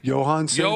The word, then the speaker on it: Johan Santana: Johan Santana.